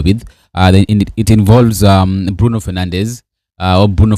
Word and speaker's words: Fernandes: It involves um Bruno Fernandez or Bruno Fernanch as they pronounce it in Portugal.